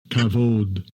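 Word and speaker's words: כָּבוֹד: And let's get the pronunciation. Strong's H 3519. Kavod.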